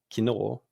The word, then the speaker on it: 昨日: The modern pronunciation of yesterday, kino, is also a result of onbin. If we add back the missing f that got dropped along the way, we get kinofu.